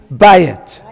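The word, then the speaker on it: בית: How do you pronounce that? Ba. Yeah. Bayit, right?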